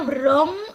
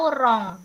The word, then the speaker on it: wrong: Ini bacanya wrong atau wrong? Wrong. Wrong. W hilang Wrong.